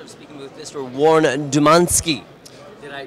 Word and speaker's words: Dumanski: Warren Dumanski. Did I pronounce that correctly?